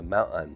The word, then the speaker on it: mountain: is interesting is that rather than adopting the more General us pronunciation with the glottal stop followed immediately by a nasal Mountain they hypercorrect it to a t- sound rather than a glottal stop mountain now there's nothing